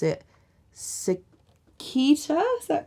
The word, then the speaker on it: Sitka: Yeah, so it is solid, and I think you pronounce it Sitkita, is that correct? Sitka spruce.